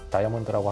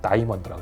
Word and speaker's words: diamond: 카피로 Diamond is forever, 다이아몬드라고 하면은 우리나라 발음이고 영어로 정확히 말하면 다이먼드라고 그래야죠.